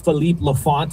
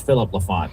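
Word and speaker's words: Philippe Laffont: There was one part of, I think it's Philippe Lafont. I think that's how you say his name. Obviously, I don't think it's Philip Lafont. He's got the European accent there.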